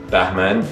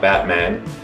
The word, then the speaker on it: Bahman: So yes, my name is Bahman, B-A-H-M-A-N, not Batman.